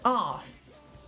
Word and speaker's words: arse: him to say it like, so Americans cannot pronounce arse, just arse.